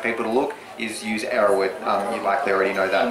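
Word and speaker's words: Erowid: How do you say that? Arrowwood, E-R-O-W-I-D.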